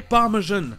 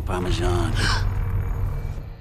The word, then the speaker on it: parmesan: Un autre exemple de hyperforeignism, c'est dans le mot français parmesan, qui se prononce en anglais parmesan, comme un J français.